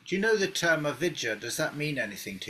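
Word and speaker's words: अविद्या: It's long A. Avid. A-V-I-J-J-A. No, it's a short A actually. Short A. A perception of a separate self that's not real. Yeah, but avidya is not. That's avidya is like a blockage. A-V-I-J-J-A. Avid. You've got to pronounce both the J's somehow. I don't know how you do it.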